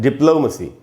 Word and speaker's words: diplomacy: होता है MNOP, तो जिसको हम ओ समझते हैं उसका उच्चारण एक्चुअली ओ नहीं होता। ब्रिटिश इंग्लिश में उसका उच्चारण होता है आधा अ और ऊ, उसी हिसाब से लिखा गया है डिप्लोमेसी।